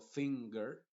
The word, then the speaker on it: finger: estas palabras por ejemplo Cuando digo finger en ese caso la n sigue siendo nasal porque está antes de la G pero la g está siendo pronunciada con el sonido de la G normal que es el sonido de la palabra gato por ejemplo diríamos finger longer tango Jungle solamente en estas palabras